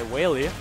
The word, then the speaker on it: Weili: But how do you pronounce his name? Weili? Weili.